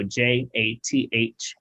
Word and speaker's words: Jathan: Jathan like Nathan, so Jathan, Nathan with the J.